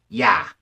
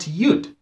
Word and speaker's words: Yud: in the ever tongue yah yah is the correct pronunciation not yud